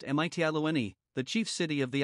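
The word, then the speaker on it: Mitylene: of asia minor they first came to medellin pronounced mitiani the chief city of the island of lesbos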